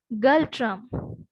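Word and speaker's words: Ngultrum: Right, capital is Thimphu, currency is Galtram, N is silent, it is Galtram.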